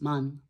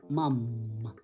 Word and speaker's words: mom: una M vaga, dices man, man's thread, lo que está diciendo es hombre, man, hombre. No, tiene que sonar a la M, mam, mam.